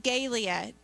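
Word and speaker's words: galea: And it's spelled G-A-L-E-A. And it's pronounced Galia.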